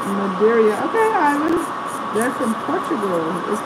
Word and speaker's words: Madeira: Maggie says, yes, you did say it right, Madeira.